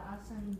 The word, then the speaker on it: Aswan: The main topic is, that I think it is the, how do you pronounce it? Aswan? The Aswan Dam.